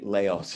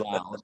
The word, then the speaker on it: Laos: I used to say Laos as well, until I came across some people from Laos who said Laos. So I thought they were better equipped to how to pronounce it. So we've changed our pronunciation.